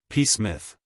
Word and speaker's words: Psmith: no no PSM I I should explain to you that I started life without the initial letter and my father always clung ruggedly to the plain Smith but it seemed to me that there were so many smiths in the world that a little variety might well be introduced SMI I look on as a cowardly evasion nor do I approve